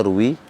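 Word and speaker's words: رُوِيَ: baca Ruwi Ruwi n tapi kalau dia punya sanad ke P orang yang dia nukilkan maka kita membaca RW rwainah nah setahu kami imam nawawi itu enggak punya sanad ke Ibnu sunni maka kita membacanya Ruwi Ruwi Nah itu sebuah istilah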